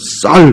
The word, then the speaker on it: 쌀: 더 쉽게 이제 우리가 이해할 수 있는 제가 예를 들면 경상도 그 아주 토박이들은 쌀을 발음 못하래요. 그러죠, 살. 그러니까 경상도 사람들이 쌍시옷 발음을 잘 못하잖아요. 그러니까 우리는 쌀 그러면 저들은 쌀이라고 해봐.